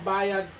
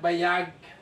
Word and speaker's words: bayad: Okay, ito po ang bayad ko. Ito po. Ang bayad ko. Bayad ko. Yes, it's not bayag. What's the difference? Bayag means balls of men. So be careful. Bayad.